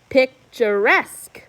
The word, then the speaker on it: picturesque: a yeoman number 14 we punched the last syllable can you see that picturesque picturesque number 15 phosphorescence phosphorescence